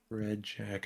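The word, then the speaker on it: Redjac: Oh, they keep saying Reic, but it's spelled in the subtitles R E D J A C. Red Jack. I got you.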